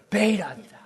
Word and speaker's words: Bethe: happening was 1930s Hans Bethe, B-E-T-H-E. How do you pronounce B-E-T-H-E? Bethe? I don't know how to pronounce his last name. Beta. That's how you spell his name.